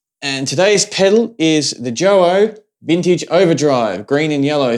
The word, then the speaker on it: Joyo: And other than my last video that I did on this product, I believe it is pronounced JOYO, because I wasn't sure last time.